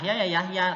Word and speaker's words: Yahya: Jadi ya Isa tetap Isa, Musa ya Musa bukan Muse, atau Yahya ya Yahya karena nama orang jadi Yahya tetap Yahya, Mustafa ya tetap Mustafa